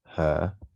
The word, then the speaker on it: هذه: Now, hadhihi, just like hadha, it's supposed to be hadhihi. That's what it's supposed to be, but we don't actually write the alif. We pronounce it because it's implied.